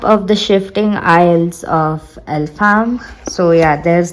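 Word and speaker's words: Elfhame: Okay, that's how you pronounce it. Okay. Map of the shifting isles of Elfham.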